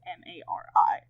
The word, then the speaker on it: Marry: I spell it with the 2 R's, but my personal preference to read it is Mari. I just think that it looks prettier.